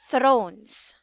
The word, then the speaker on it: thrones: It's thrones. Thrones. No, thrones. Do you know how to pronounce the TH?